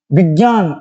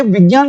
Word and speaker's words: विज्ञान: बाकी जैसे हम ये लिखते हैं ना विज्ञान, ये लिख रहे हैं हम विज्ञान, हम इसको बोलते हैं विज्ञान है, बल्कि विज्ञान नहीं है। इसका शुद्ध उच्चारण तो ज हो जाए तो विज्ञान होना चाहिए, इसका शुद्ध उच्चारण क्या होगा? विज्ञान होगा।